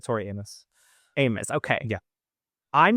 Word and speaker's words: Tori Amos: But another artist that I noticed that you have extensively covered is Tori Atmos. Is that how you say it? Tori Amos. I don't know. I've always said Tori Amos.